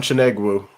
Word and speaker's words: Chinegwu: if you want to tell us how to pronounce it uh i'm chaneg wu okay thanks for coming on let's sip and